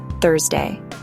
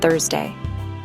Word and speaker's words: Thursday: It has a special sound at the beginning, Thursday. To make the sound, put your tongue gently between your teeth. Thursday.